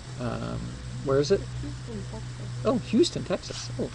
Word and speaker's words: Houston: So anyway, she's going to Houston It's funny, actually there's a little town here spelled the same way, but they pronounce it Houston. So if you're from Minnesota, then you live in Houston, and if you're from Texas, you live in Houston.